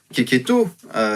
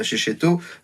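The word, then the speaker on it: Checchetto: C'est une série qui est aussi notamment dessinée en particulier par Keketo, l'excellent Keketo, oui ça se prononce Keketo bien sûr, et pas Checheto, Marco Keketo qui dessine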